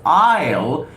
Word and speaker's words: aisle: WE Network and we're pronounced as isil we pronounce it as aisle e-i-l-e walk down the aisle one has walked